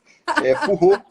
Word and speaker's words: Foureaux: Bom, só me lembra como pronuncia o seu sobrenome? Furró, Furró.